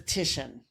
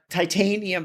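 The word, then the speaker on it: Titian: artist is is the Renaissance artist known as tishan and I should point out that some people may actually pronounce it uh Titanium because the way it's it's the way that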